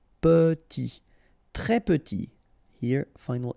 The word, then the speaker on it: petit: Très petit. Final T not pronounced and then E is pronounced like a E. Petit.